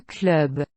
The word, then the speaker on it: club: For now, concentrate on pronouncing the endings of words like these. Un club.